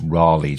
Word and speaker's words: Raleigh: you and tell you it's Raleigh, John. Not like the bicycle that we have over here. Okay, not Raleigh.